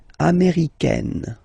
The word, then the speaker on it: américaine: So when you talk about the nationality, américain, masculine form, un, américain, and then feminine form, américaine, américaine. Okay, it's really open, this AI, américaine.